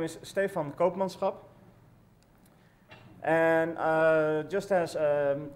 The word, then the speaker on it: Stefan Koopmanschap: not from the Netherlands has a hard time pronouncing my name um my name is Stefan Copans and uh just as um Evo uh I